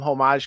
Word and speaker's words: homage: We did do some homage covers which people were into. That's Did you say homage? Homage. Homage. I thought you said the H. Don't pronounce the H on that one.